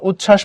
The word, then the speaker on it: উচ্ছ্বাস: এখান থেকে আরেকটা শিখলাম যে সংযুক্ত বা যুক্ত ব্যঞ্জন বর্ণের সঙ্গে যদি বফলা থাকে তবে তার উচ্চারণ হবে না। আমি এখানে উজ্জ্বল পড়ছি, বফলার কোনো প্রভাব নাই। এখানে উচ্ছ্বাস পড়ছি, বফলার কোনো প্রভাব নাই, সিম্পলি নাই।